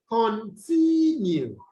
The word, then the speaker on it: continue: a prefix all right in continue continue you have the stress on the second syllable now we then look